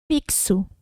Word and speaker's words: fixo: No fixo. Fi, que, so.